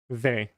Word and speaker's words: vais: Ve. Or ve. A-I makes the E sound, yeah.